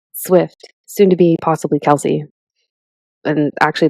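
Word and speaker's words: Kelce: soon to be possibly Kelsey. And actually the right way to pronounce that is Kels, but everyone started saying Kelsey, so it's Kels.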